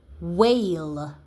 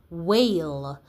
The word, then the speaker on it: whale: So, let's go look at your words where we have wh making a sound together, but the h is silent.